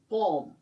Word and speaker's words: palm: PALM, इसमें L silent रहता है. PAM, पॉम.